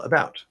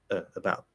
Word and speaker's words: about: a second uh where that first syllable is uh right it's just a little schwa sound if i say it clearly uh it's fine but about about about um now